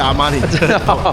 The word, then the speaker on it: Armani: Armani." Yes, that 's the same pronunciation of the brand Armani, but it does n't matter.